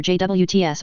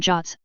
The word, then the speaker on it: JWT: web tokens RFC 7519 pronounced either jwts or jots or previously standardized way